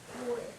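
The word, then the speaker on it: voy: Boy. Boy. And remember the V is pronounced a little more like our B in English.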